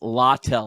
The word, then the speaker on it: Littell: It's Littell. I actually looked up the pronouncing.